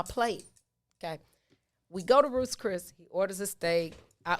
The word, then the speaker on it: Ruth's Chris: Ruth's Chris, not Roof Chris. It's plural. Ruth's.